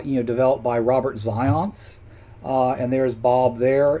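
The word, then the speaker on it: Zajonc: his last name it's zions it rhymes with science kind of more or less so no not john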